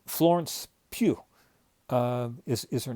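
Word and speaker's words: Florence Pugh: Florence Pew um is is her name. I think that's how it's pronounced.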